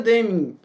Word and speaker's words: Deming: Porque o Deming ele difundiu esse ciclo PDCA, mas quem criou foi o Schwartz. E aqui o William Deming, que é Deming, tá a pronúncia, né? Deming.